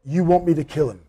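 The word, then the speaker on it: U Want Me 2 Kill Him?: to kill him now it's spelt you as in the letter u or one word want me number two kill him so it's not split up it's all one word how do you say it you want me to kill him and again you want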